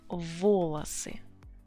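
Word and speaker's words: волосы: All the hairs on your head would be volosy. For Russian language, volosy, all the hairs on your head, they are plural. Volos, volosy. Two syllables, you keep the stress where it was.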